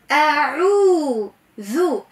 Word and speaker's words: أعوذ: حرف العين لابد من نطقه جيدا، اسمع مليح، أعوذ أعو عو عو، فما عين حرف يظهر مش أعوذ عايم هكا هلامي، لا، قل أعوذ برب الناس.